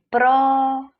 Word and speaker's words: próximo: A penúltima sílaba é tônica e próximo, a antepenúltima sílaba é tônica, o que nos dá aquilo que foi pedido no enunciado, ok?